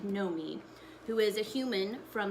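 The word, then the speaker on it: Noemi: her name is pronounced know me because it's not like Naomi it's like no me who is a human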